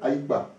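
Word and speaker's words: Aikpa: Mais vraiment, l'écriture, c'est A, I, K, P, A. Alors ici, je suis sûr que quand les gens prononcent, ils disent Aïkpa. Hein? Et normalement, on doit prononcer, les deux sont ensemble. On doit prononcer, bon, je suis sorti, et chez nous, qui que tu sois, dès que tu nais avec les pieds devant, tu t'appelles Aïkba. Dans d'autres régions de Côte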